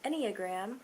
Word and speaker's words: enneagram: fun you know let's get back into the enneagram which is the correct pronunciation because i looked it up i am